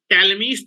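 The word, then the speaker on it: Ptolemy: ठीक है, now heading डालिए, ये वेरी वेरी इंपॉर्टेंट थ्योरम है, दैट इज इसको बोलते हैं टैलमीज थ्योरम। टैलमीज थ्योरम, पी साइलेंट रहता है, पी साइलेंट रहता है, पी नहीं पढ़ते हैं।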